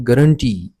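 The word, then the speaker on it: guarantee: इसमें जो T double E है इस पे हम ज्यादा दबाव डालते हैं, जोर डालते हैं, प्रोलोंग करते हैं।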